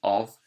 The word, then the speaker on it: of: On top of, you can hear that f sound, more like a v sound in of, being made with an F.